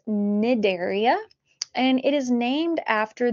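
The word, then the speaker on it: Cnidaria: will talk about nidaria the sea is silent it is nidaria and it is named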